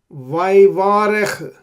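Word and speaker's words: וַיְבָרֶךְ: Vayvarech. There is no Dagesh here. Like previously, Vayomer, etc. We did not pronounce, the double Y, right?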